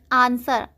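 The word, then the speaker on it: answer: Next है आंसर, आंसर में W से पहले S है इसीलिए W साइलेंट है, इसको हम क्या पढ़ेंगे, आंसर।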